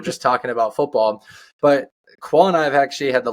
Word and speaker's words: Khoa: k h OA but it is pronounced qua and qua and I